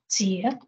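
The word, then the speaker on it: 節: explore the last word in the Chinese sentence, pronounced as jie.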